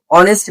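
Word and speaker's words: honest: আবার এখানে অনেস্ট ম্যান, এই যে ম্যানটা হচ্ছে আমাদের নাউন, অনেস্ট শব্দটা হচ্ছে অ্যাডজেক্টিভ। তাহলে অনেস্ট ম্যান এর পূর্বে অ্যান বসাচ্ছি কারণ এইচটা উচ্চারণ দিচ্ছে কার মতো, ভাওয়ালের মতো।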